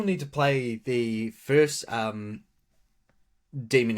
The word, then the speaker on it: Demon: I still need to play the first Demon X Machina. Oh, so it actually pronounced demon. Yeah, I always thought it was pronounced Damon, but then I watch like videos and stuff, and they'll be like, it's demon.